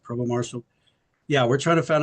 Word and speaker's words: Provost Marshal: it uh it's a it's called Provo Marshall it's pronounced Provo Marshall yeah we're trying to